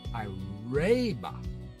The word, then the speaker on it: Piraiba: It's Piraiba, because R-A-I would be like railroad.